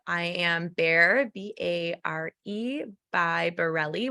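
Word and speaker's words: Barrile: am Bear b-a-r-e by Borelli which is my last name b-a-r-r-i-l-e it doesn't sound like it's spelled so find me and then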